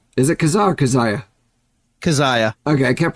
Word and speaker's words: Kezia: going to be talking Protest the Hero album kazah is it kazah or kazaya kazaya okay I kept pronouncing it kazah in my head so the